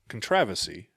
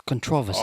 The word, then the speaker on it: controversy: you mean controversy Y and they're saying contraversy it's controversy okay all right like I know what you're saying but I've never in my life heard it said that way sounds like there's a